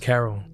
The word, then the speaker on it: Khairul: She was born to a woman named Khairul Abdul, sometimes pronounced Carol, and a man named Parmjit Singh.